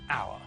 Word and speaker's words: hour: When we say hour, we don't pronounce the H at the start of the word.